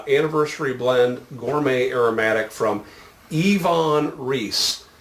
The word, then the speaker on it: Iwan: blend gourmet aromatic from yvonne reese some folks say i want or ewon but the w is pronounced as a v what'd you forget uh